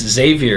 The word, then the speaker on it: Xavier: and I was there it says it's Xavier and then they spelled it out phonetically with a z not eggs EG GS savior anyway mind the gap